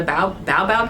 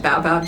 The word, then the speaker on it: baobab: huge, gigantic, old, super wide, was it a baobab tree? Yeah, that's how you pronounce it, right? Yeah, baobab tree.